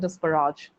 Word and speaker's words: disparage: Two pronunciations, disparage and disparage, both are correct.